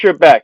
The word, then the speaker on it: Trebek: Trebek.